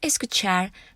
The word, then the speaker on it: escuchar: on the last syllable the world escuchar doesn't end in an with the letter N or s or in a vowel it ends with a different consonant for the reason escuchar follows